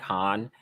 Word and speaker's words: HONNE: Babe, and we have, I think it's pronounced Han or Hani. Yeah, I believe I always used to pronounce it like Han. I'm gonna say Han, and that's HONNE, not like Han Solo, that nerf herder.